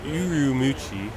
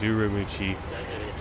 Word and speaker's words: Ürümqi: in ucci uh U urumi that's how you say it in Chinese urumi um it is 7:51